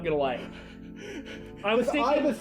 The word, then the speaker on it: Aiba: And now he has AIBall. Uh-huh. An artificial eye that can It should be they do pronounce it in the game AIBall. Now, he has AIBall. Aiba. Her name is Aiba.